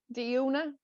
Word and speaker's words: Diona: Diona. Diona? Right, My Diona. dad's called Dee and my mum's called Donna, and they made up my name, Diona.